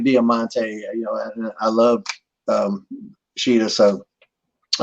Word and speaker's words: Diamante: And so we called Conan over and I said, she needs to know how to pronounce her name. And Conan goes, "It's Diamante."